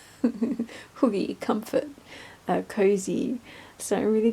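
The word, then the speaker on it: hygge: It's spelt Hagi, but it's Hoogie. Hoogie, comfort, cozy.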